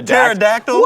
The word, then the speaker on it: pterodactyl: say yeah but Terra pterodactyl in the world tactile witta P what is what is going on right now the P is silent why do we why